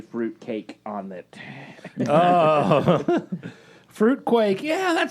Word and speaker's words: Fruit Quake: Man, when I got this Mountain Dew, I saw Fruit Quake. I didn't see Fruit Cake on it. Oh. Fruit Quake. Yeah, that sounds great. No, it rhymes with fruit cake.